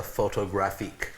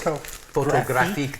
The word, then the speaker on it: Photographique: I like printing on the Canson Barita Photographique, which is photographique, that's the French pronunciation, photographique.